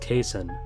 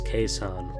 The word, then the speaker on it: Cason: much less season at Kentucky you heard it pronounced casein rhymes with Jason but if you listen to Sam presti's post-draft press conference Thursday night it was pronounced cassan so the right pronunciation is kaison Wallace said revealing that the correct answer to